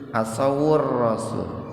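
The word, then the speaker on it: عَصَوُا الرَّسُولَ: Awalnya, "waw" adalah sukun, Tuan. "Asaw." "Asaw. " Tetapi karena setelah "waw" ada "alif lam" dengan sukun, "waw" diucapkan, menjadi "asawur." " Asawur-rasul."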